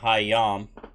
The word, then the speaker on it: Hayam: So, Dirge, if you want to say Watchtower or Eye Tower, it's Hayam. Hayam. It's spelled HAA Betten YAM, but it's pronounced HAHYAHM with the emphasis on the Yam side of it.